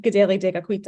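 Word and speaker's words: Kateri Tekakwitha: tribe as um saying good daily dequita I pronounced her name the Mohawk pronunciation um so I have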